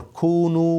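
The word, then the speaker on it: كونوا: to a woman or kunu with a wow silent alif written not pronounced when you speak to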